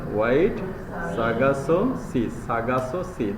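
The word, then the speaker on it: Sargasso: Sagasso Sea. Just remove R.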